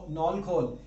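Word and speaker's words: knol-khol: एक वर्ड और इसका नॉल, के साइलेंट है, खोल प्रोनाउंसिंग है, नॉल खोल, ये के साइलेंट है, गूंगा है लेकिन आवाज नहीं आती उसकी.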